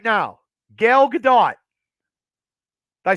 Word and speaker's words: Gal Gadot: a wait hold on I'll say it out loud and then if you hear it from the room Gail Gadot did I say it right now Gal Gadot did I say it